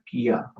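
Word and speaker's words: क्या: was a Kia okay it basically you know the car model it pretty you pretty much pronounce like that Kia and that's how you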